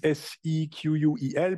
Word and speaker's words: SQL: the idea is that it used to be called SQL like this s e quu l but then there was a trademark issue so it has to be renamed and then all of